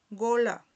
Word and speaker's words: gola: Aquí tenemos la palabra gola, ¿verdad? que es una o abierta, que significa cuello.